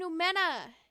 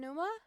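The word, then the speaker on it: Pneuma: Using his element Oh, I was saying Numena. damage, Breath Thorn appears that pierces enemies, dealing Numa-aligned hydro damage. How do you say Oasia then? Is it still Oasia? Oasia and Numa?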